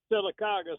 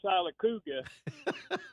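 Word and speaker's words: Sylacauga: And I'm familiar with him calling Silicaga Silicuga.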